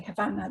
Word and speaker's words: Havana: capital of Cuba, obviously Havana. The B is the original Spanish spelling. Originally, it was pronounced Habana.